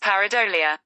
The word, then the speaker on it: pareidolia: well how do you pronounce Powerade olya that's pronounced pareidolia huh hotel you go beaver I even got